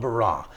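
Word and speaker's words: ברא: is an interesting word the word is called b-a-r-a and I'm not saying it correctly but you can you you get the gist of it it's called barah now only God it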